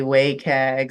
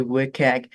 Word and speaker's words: WCAG: or some people say wayag some people say wag it's wcag and you can fill you can pronounce it however but these are the